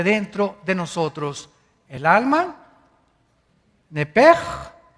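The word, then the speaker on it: נפש: La palabra, la letra o las letras s h en el hebreo se pronuncian en hebreo como j. Entonces, se pronuncia nepej.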